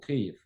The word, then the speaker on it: Kyiv: If in the old Soviet Union pronunciation, it was spelling like K-I-E-V. Yes. Yep. And latest one, because with Ukrainian accent, we call Kyiv. K-Y. K-Y-E-V. E-I-I-V. E-I, yeah. Okay, so Ukrainians actually call it Kyiv, and the Russians call it Kiev.